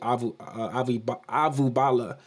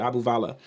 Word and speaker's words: Abuvala: I got this actually from Ravi Avubala. Or I said that Abuvala. That's how you say it, Abuvala.